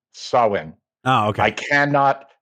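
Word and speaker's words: Samhain: me to think that most people don't know that sawin is pronounced sawin or that there's potentially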